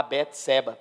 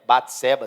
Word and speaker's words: Bate-Seba: seu pecado com a bete-seba bate-seba se você preferir pronunciar assim a leitura feita nos